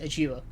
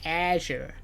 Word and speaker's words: Azure: Yeah, well, Azure, ni'n mewn Britain, ni'n Prydain, ni'n pronounce fe Azure. A wedyn mewn America, ar y fel, bryd ni'n gweithio fel like the Microsoft press conference, it's like Azure.